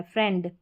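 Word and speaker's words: friend: फ्रेंड piece thief फील्ड यह जो फ्रेंड है आपको अलग से याद रखना है फ्रेंड यहां पर आई ई का ई साउंड नहीं आ रहा है फ्रेंड ए करके करके आ रहा है।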